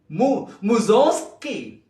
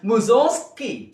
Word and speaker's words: Mussorgsky: It is the name of a Russian composer. And the last syllable is ski. Zog. Mussorgsky. The word is Mussorgsky.